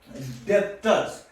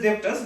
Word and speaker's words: debtors: Now the next is debtors. So it is generally we can say debtors, but it is debtors. B is silent here.